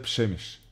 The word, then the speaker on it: Przemyśl: w pobliżu miasta Как казвалите това се чете Пшемиш?